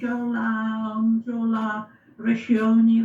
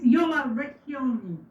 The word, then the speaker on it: Jola Recchioni: But I don't mind if I'm called Jola Recchioni, that's fine. But it's Jola Recchioni.